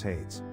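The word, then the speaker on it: Haidz: your last is what my last name is hates that is spelled h a i d z and I want to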